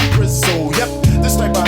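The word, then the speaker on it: Brizzl: These are the words from the official B-R-I-Z-Z-L, pronounced Brizzo.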